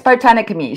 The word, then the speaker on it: Botanicamy: I am from my page Botanicamy, which I know a lot of people really struggle to pronounce. Sometimes I do too. But it's Botanicamy. So for the botanic ingredients and alchemy, as in soothing botanic